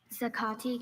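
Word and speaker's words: zacate: There is zakati and zakati.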